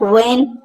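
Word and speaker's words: when: बट व्हेन व्हेन नहीं पढ़ना है इसको दोस्तों। ठीक है? ये इसमें जो है एच जो है दोस्तों वो साइलेंट होता है।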